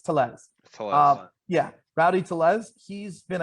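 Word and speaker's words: Tellez: say his name I've been saying tles it's tles yeah Rowdy tles he's been a guy who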